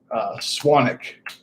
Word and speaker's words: Swanwick: And the name of the company is Swanic, but it's spelled like Swanwick.